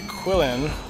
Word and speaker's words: Quillin: In narrowing the chaser's chase, go was informed that Gary was on another mission led by Quillin. Uh that just sounds like Krillin, but you just don't pronounce the R.